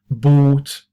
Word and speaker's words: bought: If you come across past, it's more likely to be pronounced ought. Bought, the past of buy.